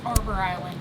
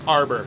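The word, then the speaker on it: Harbour Island: I found out that the H is actually not pronounced. It's Arbor Island. Arbor.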